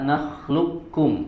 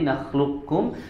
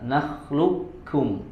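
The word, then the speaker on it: نخلقكم: ya kemudian juga di hati hati dalam pengucapan kata nakhlukkum ya kalau di naklukum maka tidak tidak disempurnakan sifat istillanya atau sifat tebal pada huruf qfnya di Kamil disempurnakan langsung masuk ke huruf ka nakhlukum nakhlukum yang ada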